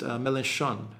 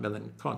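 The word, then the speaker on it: Mélenchon: super sticker uh french honey badger says it's pronounced melanchon and not melancholy oh right okay sorry i i i i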